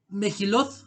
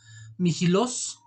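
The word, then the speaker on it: Megillot: Poéticos, son los Salmos, Proverbios, Job, el Mejilot, de hecho se tiene que pronunciar Mijilos, Cantar de los Cantares, Ruth, Lamentaciones, Eclesiastés y Esther.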